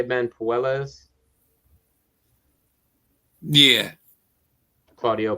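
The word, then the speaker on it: Puelles: versus uh claudio how do you say ben poelas yeah claudio puelas who you got in that fight ben i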